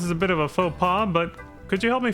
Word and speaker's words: faux pas: because they have like, what the fuck is up with the silent X? You know? It's like, that clearly says Fox. Like, why the hell, why are there silent letters, especially consonants like an X? Since when is an X a silent letter, right? Like, what the hell is that? Same with the S.